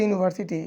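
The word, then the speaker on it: university: এই যে এখানে এ আই ও ইউ এখানে এই যে ইউনিভার্সিটি ইউনিভার্সিটিতে ইউর উচ্চারণটা আর মতো না।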